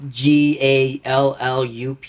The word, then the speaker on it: Gallup: I came from a little town called Gallup. Gallop, like galloping, like Yeah, I the guess action. so. I don't know. Is it spelled the same way? Probably not. Gallup. It's Gallup.